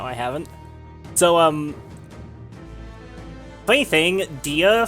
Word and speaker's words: Dia: So, funny thing, Dia from, like, Persona/SMT is actually pronounced D, apparently.